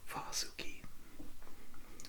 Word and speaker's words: Vasuki: If the correct pronunciation in Sanskrit is Vasuki, and Vasuki is a snake that Shiva wears around his neck.